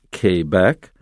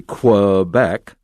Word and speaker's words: Quebec: province in canada it's french speaking and they pronounce their uh provinces quebec and they know immediately if you don't know french because most of us english speakers will say quebec and they immediately know that you're not from